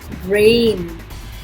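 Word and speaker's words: reign: इसमें G silent है, रेन.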